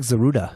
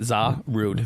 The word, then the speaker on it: Zarude: It looks like Zaruda. Zaruda. It's Zarude. Zarude? Zarude. That's how I look at it. Zarude.